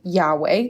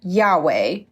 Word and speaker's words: Yahweh: Divine approval Divine approval so God's name in the Bible the Holy Name Of God is spelled using the Hebrew consonance yod hey VAV hey and for our purposes we could call them why H wh it's typically sounded out something like Yahweh though we don't actually